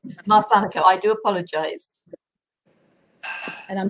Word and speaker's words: Marsanico: Yes, and the pronunciation of my name is Marsanico. Marsanico, I do apologize.